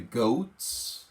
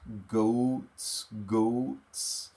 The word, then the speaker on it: goat: Feed the goats. Goats, and we have ride in a tractor. Careful with the pronunciation. Don't pronounce that A in go. Goat? No. Goat.